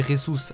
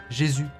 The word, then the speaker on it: Jesus: nouvelle vidéo sur Gabriel Rous alors avant que la vidéo commence on ne dit pas Gabriel Jésus voilà c'est comme les personnes qui disent James Rodriguez ça se prononce rames merci aujourd'hui les mecs